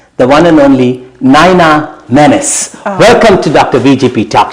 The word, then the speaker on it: Menis: your last name is Menace I know it's spelled as me n i s yeah but I think it's pronounced as Dennis the Menace and you're part from